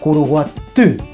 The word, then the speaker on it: Curuguaty: destination for the day How do we pronounce it in Guarani? CuruguatY What am I saying? CuruguatY I'll probably never manage to say it right And before we got